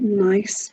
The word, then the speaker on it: gneiss: And we have done Gingham and Garland and garlic clove and Gneiss, but it's spelled Gneiss.